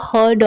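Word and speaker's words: heard: इसे इंग्लिश में बोलेंगे I have never हर्ड of that. मैंने ऐसा कभी नहीं सुना। I have never हर्ड of that, या इसे हियर्ड नहीं बल्कि हर्ड प्रोनाउंस करेंगे। हर्ड।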